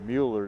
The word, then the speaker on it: Mueller: I think he pronounces it Mueller, doesn't he? Mueller? Yeah, that's what I've been going with Mueller. PA guy here keeps saying Miller.